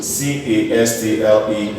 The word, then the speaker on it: castle: C-A-S-T-L-E is called castle.